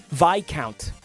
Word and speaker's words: Viscount: Count Viscount. Dude, it took 10 years, but I'm getting really good at not pronouncing that S.